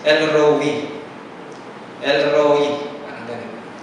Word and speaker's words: El Roi: Ang iba El Roy pero ang talaga daw pronunciation is El Roe.